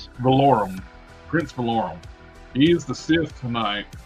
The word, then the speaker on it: Valorum: Prince Valorum.